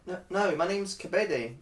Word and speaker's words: Kabede: and our new student Kabede, Kadevi. Sorry, how do you pronounce that? It's pronounced Kabede.